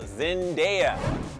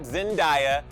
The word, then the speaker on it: Zendaya: actually say her name wrong I'm talking about zendaya not zendaya and just in case you don't believe me let's hear it from Zendaya's mouths yourself in case anyone is wondering it